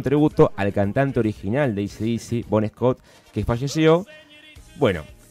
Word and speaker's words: AC/DC: a recomendar un CD de mi banda favorita, ACDC para los amigos, AC/DC, la pronunciación correcta.